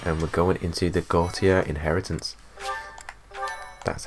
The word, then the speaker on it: Gautier: And we're going into the Gautier Inheritance. That's how it's pronounced.